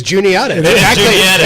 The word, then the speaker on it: Juniata: And everybody who sees Juniata spelled out for the first time pronounces it how? Juanita, which is exactly wrong.